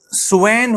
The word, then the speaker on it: swain: ठीक है, इसी तरीके से स्वेन होता है, स्वेन, SWAIN, स्वेन नहीं, वो तो स्वॉन हुआ ना, दिस स्पेलिंग देखो, SWAIN, स्वेन चरवाहे को कहते हैं।